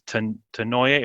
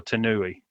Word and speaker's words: Tanouye: I heard one of his colleagues in Las Vegas say his name, and I remember it was Tanouye or Tanouye.